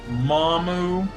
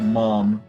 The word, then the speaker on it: Maam: of yours yes uh her name is mamu well that's how they said in the show but it's just said mom um so yeah it's spelled a a m essentially it's spelled out ma'am but they got the apostrophe whatever and i'm guessing they make the uh a silent so yeah uh we